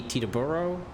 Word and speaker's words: Teterboro: me see the burro now I'm gonna say as an American has to be Teterboro Teterboro okay I don't know I'm